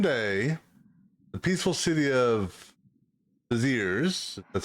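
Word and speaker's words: Béziers: In just one day, the peaceful city of Beziers, that's how you pronounce it, has been plunged into massacre.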